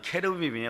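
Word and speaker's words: 케루빔: 시은자라 그러는데, 자 그룹이라 그래도 케르빔이에요 원래 발음은.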